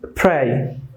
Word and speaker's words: pray: Make sure that you correctly pronounce the P. So that is pray.